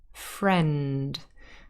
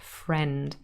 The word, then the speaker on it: friend: to the pronunciation friend friend and spelling is not that logical because we've got an eye here that we don't really hear it's just a friend so let's transcribe it